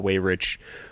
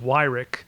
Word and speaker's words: Weyrich: person who you highlight in the book, Paul Weyrich, who seems to understand and grasp that, who,